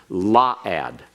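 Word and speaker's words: la'ad: eternity La ad or excuse me that's the pronunciation correct on its law ad law ad means forever now Olam can mean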